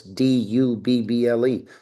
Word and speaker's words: Dubble: Double has always been spelled like bubble. So, it's dubble.